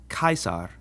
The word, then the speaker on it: Caesar: sound like a c so this name is pronounced kaisar not Caesar the same goes for the G